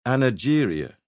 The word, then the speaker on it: angeria: The first respected doctor to give it one back in the 1890s called it angeria with a soft G.